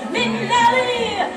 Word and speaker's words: Minnelli: That's what you say, Minnelli, Liza Minnelli.